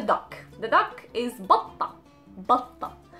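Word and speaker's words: بطة: The duck is batta, batta. So again, the ta and the t marboota, so the pronunciation of the t was a, batta.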